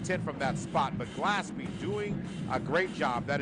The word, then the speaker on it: Gillespie: to make sure I get his name pronounced right it's glasby glasby so cutting back up